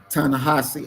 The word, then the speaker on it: Ta-Nehisi: You know, in Coates' book, The Message, I don't know how to pronounce his first name, Ta-Nehisi. Ta-Nehisi, okay.